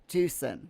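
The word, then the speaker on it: Tucson: Some people people say Tusen equals Tuxen, but the Spanish pronunciation is as I said it.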